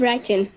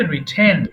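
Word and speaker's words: written: উচিত ছিল কি বলবে আই শুড হ্যাভ রাইটেন আচ্ছা উচ্চারণ হবে রিটেন আবার আইড হ্যাভ রিটেন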